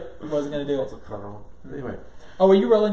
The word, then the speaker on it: Cuarón: Alfonso Cuarón. No, I was asking him, sir. Yeah. So he would try and badly pronounce. Wasn't gonna do it. Wasn't gonna do it. Also Cuarón.